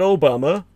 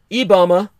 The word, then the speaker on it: IBAMA: the Portuguese acronym as IBAMA, not Obama, but spelled the same with an I in place of O, IBAMA imposed fewer deforestation fines